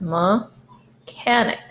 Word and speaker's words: mechanic: The second common sound is k. That's why this is mechanic.